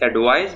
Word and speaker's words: advise: इस advice में ये C की जगह S pronounce होगा तो ये होगा advice, और इस advise में ये S की जगह Z pronounce होगा तो ये है advise, which is very simple.